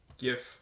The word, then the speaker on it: GIF: GIF, which is pronounced GIF, not GIF.